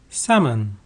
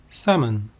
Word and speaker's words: salmon: get stone or mineral salmon salmon salmon is a large silver colored fish with pink flesh note that the L in Salmon is not pronounced scenery scenery the scenery